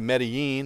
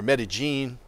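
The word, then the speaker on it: Medellín: you know i we're both going back to medellin or meta-gene the way they pronounce it if you know fear in an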